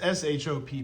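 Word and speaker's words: Shoppe: It's s h o p p e.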